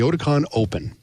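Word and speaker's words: Oticon OPN: Again, It's spelled OPN. We dropped the E so we could trademark it. But the Oticon Open that's what you want to do.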